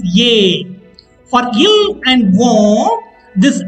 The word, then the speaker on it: es: Pronunciation of es is ye.